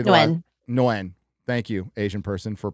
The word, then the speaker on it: Nguyen: Nguyen. Thank you, Asian person, for pronouncing Asian name for white boy here.